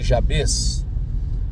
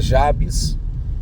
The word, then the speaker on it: Jabez: com a unção de jabz alguém diz que é jabz outros dizem que é Jabes eu prefiro falar Jabes que eu acho que a pronúncia fica mais fácil de melhor compreensão eu vou ler esse